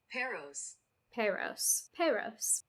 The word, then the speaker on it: Paros: Paros? I should look it up. I should know how to say it since I'm going. Let's see. Paros.